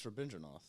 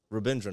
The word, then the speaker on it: Rabindranath: I usually go for Rabindranath. There's got to be a hate crime somewhere in that pronunciation. How do you pronounce it? It's Rabindranath. Rabindranath.